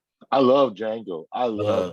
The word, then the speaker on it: Django: Django. I love Django. I love Uh, Django. Sin the first Sin City. You mean? Wait a minute. Isn't it supposed to be pronounced Django? C, the D is silent.